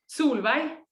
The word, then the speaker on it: Solveig: And how do you pronounce? I know this is a name, female name in Norway. Is it Solveig? Solveig.